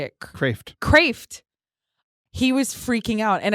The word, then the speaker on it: Kreeft: Kreeft.